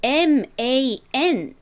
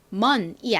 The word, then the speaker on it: man: 여기에서 앞에 W, O를 빼고 이 MAN만 써주면 남자라는 의미가 됩니다. 근데 이거를 발음하실 때는 man이 아니라 이때 A는 에 소리가 나요. 그래서 man이라고 발음해 주셔야 돼요.